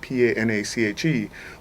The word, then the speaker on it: panache: mean elegant in class but it's spelled PA na CH e will just break it down look in the dictionary said PA - na SH so we named it panache my biggest drawback with